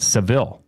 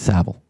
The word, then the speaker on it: Saville: I've called it Seville. It's Saville.